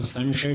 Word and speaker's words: संशय: संशय अब संशय शब्द में स पहले दंत है। फिर तालव्य है।